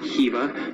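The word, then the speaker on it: Khiva: Alright guys, welcome to Kiva, or as locals pronounce it, Kiva.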